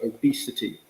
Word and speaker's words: obesity: that second syllable um it's an e sound so obesity um is how you